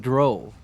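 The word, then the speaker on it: drow: it what the RO rhymes with cow D oh Dr with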